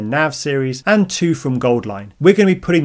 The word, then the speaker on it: Auline: from Gold Line uh it's pronounced Gold Line but they spell it Au line because Au is the chemical symbol for gold and we have a